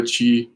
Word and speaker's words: Qi: I'll put it down here, but it's either spelled Qi. That's pronounced Chi.